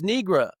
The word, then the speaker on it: nigra: And then another guy was like, well, actually, it's Nigra, but it depends on which Latin you studied.